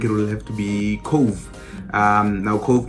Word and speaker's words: Cobh: will have to be cove um now hope it's actually spelled c-o-b-h but that's how you pronounce cove apparently so it's in it's